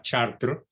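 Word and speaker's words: Chartres: tierra está en chad se pronuncia chartreux aunque se escribe a las artes es una ciudad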